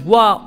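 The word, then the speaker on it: は: for the notable accessions ha is going to be pronounced as wa only in particles so don't go reading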